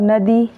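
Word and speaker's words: know: River, river मतलब नदी। Boat, boat का मतलब नाव। नो, इसमें केस साइलेंट है, ठीक है।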